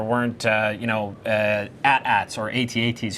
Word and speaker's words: AT-AT: at ATS or at-ats you've been having some discussion some debate about how to pronounce it in the office this week uh but if you didn't have those things it's 8080 is official okay see Justin has